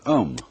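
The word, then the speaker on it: aum: course the sound um that sound is used because if you spell it out a u m it runs from the back of your throat to your lips and therefore it contains the whole range of the voice and for that reason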